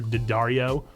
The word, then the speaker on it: Daddario: Adam Devine, and the other girl's name who I don't know how to pronounce, Alexandra Daddario, like the strings, the guitar strings.